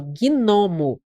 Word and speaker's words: gnomo: Não é dígrafo. Eu falo gnomo. Pronuncio.